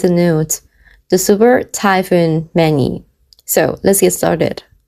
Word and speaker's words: Man-yi: Mani. This is how Thai people pronounce the Mani.